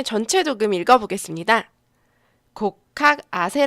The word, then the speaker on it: 곡학아세: 에 전체 조금 읽어보겠습니다 고 카세 라고 읽고 요 여기서 두번째 학자는 우리가